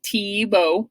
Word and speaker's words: Thiebaud: Your new artist is Wayne Thiebaud, just like the football player Thiebaud.